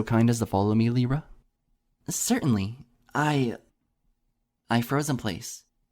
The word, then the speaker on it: Lyra: It's Lyra, not Lyra. I almost snorted, fighting to contain my giggles. It's so silly how you say it. He smiled bashfully and shrugged. The other way sounds rude. Like I'm almost calling you a liar. Well, think about it. It's just like the musical instrument, lyre.